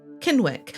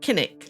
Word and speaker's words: Kinwick: not fare so well, Kinwick. And I'm going to pronounce the Wick, but no doubt if this settlement existed today, we'd say Kinnick, like we say Flitwick and not Flitwick.